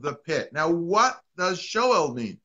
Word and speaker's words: Sheol: Now, what does Sheol mean? Or Sheol is the way it's actually pronounced in Hebrew.